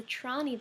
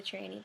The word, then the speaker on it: Trani: You corrected me on the pronunciation of the Trani building, which I was pronouncing the Tranny building.